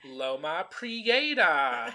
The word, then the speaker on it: Loma Prietta: what are people saying Loma Prieta Creator oh yes over pronounced yeah yeah it's it's it's it's very easy to phonetically spell but sometimes people drop the tea our Latin Queen lemon